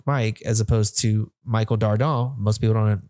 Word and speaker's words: Dardant: But most of my handles are Michael Dardant, Dardant. The T is silent because I am French.